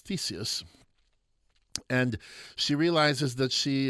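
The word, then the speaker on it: Theseus: by her Earth lover teso uh that's the German pronunciation you might have thought it was Theus and she realizes that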